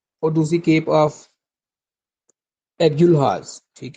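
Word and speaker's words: Agulhas: और दूसरी केप ऑफ एगुलहास ठीक है एगुलहास दूसरी केप है केप ऑफ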